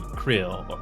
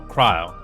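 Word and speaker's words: Krile: And so for the current uh main story that I did for last week, basically it's all more backstory with Krill. No, Kryle. Cry. I keep mispronouncing her that character's name.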